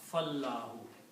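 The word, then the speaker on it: فالله: When you combine these two, it's written like that this alif which is here is not recited because you combine fa with the lam. Fallahu.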